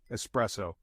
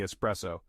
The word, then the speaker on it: espresso: it with me Cino espresso is a tricky word the stress is on the second part and the S sounds like a z espresso say it with me espresso lastly we have macchiato